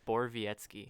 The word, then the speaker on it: Borowiecki: How do you say his name? I think Gorbietsky? it's Borowiecki. Borowiecki?